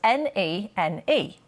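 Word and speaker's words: Nene: the river is spelled ne ne if you live in Northampton they say the river nen and in peterb it's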